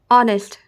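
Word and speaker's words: honest: नाहा है ना आवर ये ऑनेस्ट अ आ रहा है ना ऑनेस्ट तो इसमें एन का होगा ए नहीं लगेगा इसमें एच क्या होता है साइलेंट हो जाता है जब भी एस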